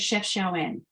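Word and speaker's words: Chefchaouen: The blue city that I was about to talk about is called Chef Shawan. Thanks, Mum. Beautiful. I think Donna also identified it there. So I'm glad you pronounced it that way, because I just look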